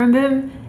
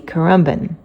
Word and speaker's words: Currumbin: So the general consensus seems to be Currumbin, although some people pronounce it Currumbin.